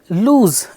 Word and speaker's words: lose: Alright, so lose, it's not loss, it's pronounced as lose.